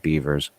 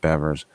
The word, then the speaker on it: Bevers: in on missy uh bevers i think it's beverage it's not beavers uh from from uh texas uh i think it's spelt beavers but it's pronounced bevers um that that's a